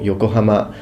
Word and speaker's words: Yokohama: By the way, in Japanese it's Tokyo, Yokohama, because people sometimes when I pronounce things in the English way, they're like, well, you say you know Japanese and you can't even pronounce it. I can, it's just that I'm speaking English.